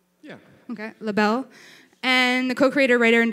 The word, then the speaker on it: LIBELLE: Okay, LIBELLE.